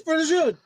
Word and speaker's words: prosciutto: It's prosciutto. Prosciutto. Yeah, that's right. You're not supposed to pronounce the vowel at the end.